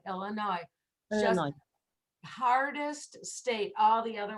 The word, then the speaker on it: Illinois: is very important and unfortunately there are even americans who put the s on it which for me is very very hard to hear it's no ass possible no s illinois illinois illinois hardest state all the